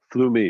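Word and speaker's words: Flummi: friction the friction mallets the flumies flew me that's how it's pronounced it's a german word those can be really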